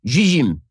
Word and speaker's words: Zzyym: The recipient is Colorado resident Dana Zizim. Okay, the reason I pronounce it that way is because the last name is spelled Zzyym.